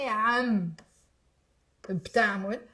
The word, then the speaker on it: عم بتعمل: Now, when you finish saying amb, we then say ta'amul. So amb, ta'amul. Makes it easier to pronounce. It's actually am, ta'amul, but just a pronunciation trick, put this b as if it's part of the previous word.